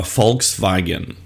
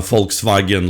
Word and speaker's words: Volkswagen: the uh Volkswagen logo the word Volkswagen is two German words folks or fols I'm not sure if I pronounce it correctly in German so fols uh folks meaning people and vagon meaning car Volkswagen is the car for people next car would be